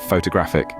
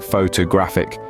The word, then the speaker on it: photographic: photographer well done finally we have photographic the stress here is on the third syllable so it sounds like photographic with a strong graph can you say that